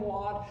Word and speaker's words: Waugh: I call him Waugh because I met his great-grandnephew, and he said his grandparents always pronounced it Waugh. That's close enough for me.